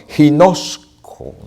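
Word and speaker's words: γινώσκω: Palabra griega gnosis, que viene a su vez de otra palabra que quiere decir, que se lee o pronuncia de esta forma, ginosko.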